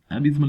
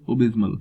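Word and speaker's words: abysmal: एबिस्मल की यहाँ पे बात करते हैं, इसको हम नॉर्मल लैंग्वेज में एबिस्मल बोलते हैं, बट द प्रोनाउंसिएशन ओबिस्मल।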